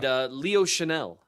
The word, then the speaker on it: Chenal: Chenal is how you say his name.